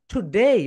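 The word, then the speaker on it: today: That is wrong pronunciation. Right pronunciation কি হবে বলো তো? টুডেই, বলো টুডেই, টুডেই।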